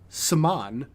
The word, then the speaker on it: Samhain: It is Samhain.